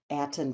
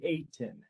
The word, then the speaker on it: Aten: we have approved Commander Atten for this role. Thank you so much. Commander Atten, are we saying your name right? I was just going to say, it's actually Aten. That's how it's pronounced.